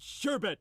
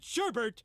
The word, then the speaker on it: sherbet: do not eat sorbet they eat sherbet and they pronounce it Sherbert and I wish it